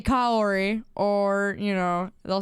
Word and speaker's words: Kaori: So, but it was obviously, you know, I just say Kaori. But you could say it however you like, because it works all I guess all 3 ways. Corey in the house. Heck no. Oh my gosh. You say it like Kaori? Yeah, well, I think a lot of us do. Some of you say Kiori.